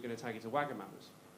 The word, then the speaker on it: Wagamama: Everyone was like, oh, crap, I've been pronouncing it Wagamama's, is it not?